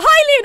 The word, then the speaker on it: Hylian: That's how you say it, Hylian.